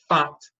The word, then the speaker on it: fant: But it turns out that the Yoruba people pronounce the name of this divinity, this title of the god of wisdom, is fant with a nasal N, fant.